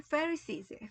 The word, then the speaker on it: Pharisees: 그래서 이게 이 바리새파는 발음이 Pharisees예요. Pharisees.